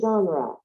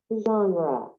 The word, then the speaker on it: genre: And how do you pronounce it? Okay, it's like this. Genre. Genre.